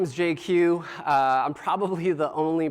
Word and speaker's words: Jay Kiew: Uh I'm probably the only person you'll ever meet who can pronounce his full name uh in just two letters. Uh J Q. Uh kind of like if uh if Jay-Z and GQ had a baby and it was Asian, that would be me.